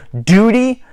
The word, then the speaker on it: duty: So duty, so when you're saying duty in British, so duty, D-U-T-Y, is pronounced duty, duty, not duty, duty, duty, or a softer duty, duty, if you know what I mean. So again, instead of saying D-U-T-Y, you would say D-E-W-T-Y or J-O-O-T-Y.